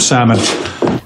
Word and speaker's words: salmon: But if you're in Great Britain, you can say salmon. Timber and salmon. With an L. But in America, you just omit L and say salmon.